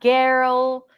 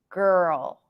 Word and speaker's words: girl: where were we girl so not Geral not Geral ER say the word um bigger bigger bigger girl so the end of bigger is the beginning of girl because it's the same transition in this case it's